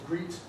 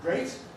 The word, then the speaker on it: great: And unless you know how to pronounce these words, you might be uncertain, and you might think it was greet or gret instead of great.